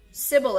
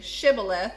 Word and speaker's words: Shibboleth: to say Sibyl if if he was from Efrain he would say Sibyl ax because people from Efrain cannot pronounce the word correctly okay so he would tell them just say Shibboleth and if they would say Sibyl F then they would know that they are from ephraim then they would take